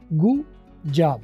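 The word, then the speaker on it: good job: तो गुड जॉब में आप देखें, गुड जॉब, डी और जे जब आपस में कन्फ्लिक्टिंग साउंड्स है थोड़ी थी, तो ऐसे में आप डी की आवाज़ साइलेंट कर देंगे और इनको आपस में रिड्यूस करके बोलेंगे गुड जॉब। गुड जॉब की बजाय गुड जॉब, गु जॉब, डी साइलेंट होके गु जो है वो जॉब के साथ मिल गया।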